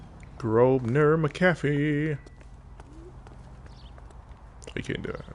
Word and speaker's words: Grosvenor: Grosvenor. The S is silent.